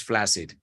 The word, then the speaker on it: flaccid: that word too often but you don't say flaxseed right you know but it's double c yeah it's two C's deuces yeah but you pronounce flaccid one of those Oddities of the language Chuck knows all about